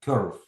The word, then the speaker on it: curve: Оці, коли літера І, ну, IR чи UR, це буде йо. Curve.